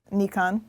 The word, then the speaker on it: Nikon: just say we were just at a major Nikon press event and they had many of the higher-ups there from Japan and they all know that's a Jeff the Japanese guy said Nikon oh really cuz I heard them say Nikon